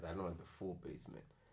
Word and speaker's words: BASMNT: where's the e cuz when I was reading your name for the person I'm like best yeah you ready and then you like basement spell basement pronounced as basement here so where did